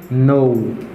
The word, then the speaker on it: know: After that, the common word is no. Oh, I know you, man. Yes. I know you are a right person. Ok. Here, this letter is silent in this word.